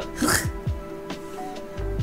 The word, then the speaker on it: Gogh: QI told me it's pronounced Van Gogh, so that's why I always do the Hoch.